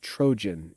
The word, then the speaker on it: Trojan: to call it the troian war but it's pronounced trojan in english the trojan war for ten years